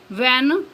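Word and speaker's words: when: next है silent H एच इज not pronounced H pronounce नहीं किया जाता या एच आवाज नहीं देता वन फॉलोइंग डब्लू जब डब्लू के बाद आए for example व्ट व्हेन व्हाई वेयर weather next है साइलेंट एच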